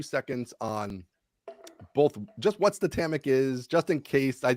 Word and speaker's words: Statamic: okay do that too it is pronounced statamic because it's the word static and dynamic so if you take